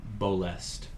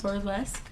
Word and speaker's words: Bolest: Eventually you see a name, Bolest, start to appear. Bolest. Bolest. Burlesque. Bolest. Just spelled like it sounds.